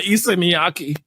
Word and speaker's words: Issei Miyake: That's going to clash with my Issei Miyake. Issei Miyake. The way you pronounce that, yeah.